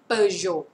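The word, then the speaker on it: Peugeot: เปย เปย นะ คะ อัน นี้ เสียง โอ ตัว เต ไม่ ออก เสียง per Jo per Jo รถ ยี่ห้อ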